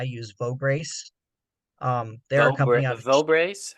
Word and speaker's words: Vograce: lanyards um I use vog Grace um they're vograce how do you spell that uh v o g r a CE